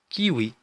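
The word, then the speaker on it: kiwi: كيوي. كيوي فاكهة الكيوي. كيوي. دونك لاحظوا هنا حرف دبليو كتنطق واو.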